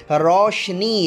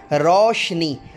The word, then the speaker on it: روشنی: میم پر جزم ہوگی۔ روشنی، رے پر زبر، رو نہیں ہے، یہ ذہن میں رکھیے گا۔ روشنی، واو پر جزم اور